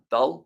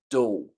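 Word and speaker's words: Doull: I was like doll how do you pronounce that uh dull no so Simon dool so I guess if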